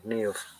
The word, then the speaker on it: Niamh: Not a lot of people can pronounce correctly. Niamh.